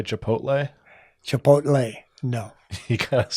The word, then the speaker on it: Chipotle: you I would normally I would normally say it chipot and how do you what's the correct way to say it Chipotle say it like regular